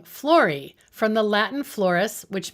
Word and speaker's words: Flori: choosing the studio name florie from the latin floris which means flower and of course it rhymes with her name you'll want to check